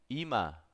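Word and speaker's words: 이마: Ima. Ima. Ima. Ima. Así es como se escribe y así es como pronuncia la frente.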